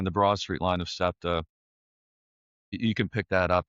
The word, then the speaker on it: SEPTA: say a reasonably easy city to walk, but SEPTA, am I pronouncing that correctly?